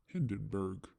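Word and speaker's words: Hindenburg: like the picture of the hien it's actually pronounced Hindenberg but bigger than that and as close if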